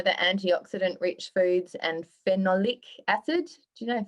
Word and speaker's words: phenolic: foods i know the antioxidant rich foods and phenolic acid do you know if that's how you say it phenolic phenolic is it ph h e n o l i c yes phenolic so apparently that is really good to assist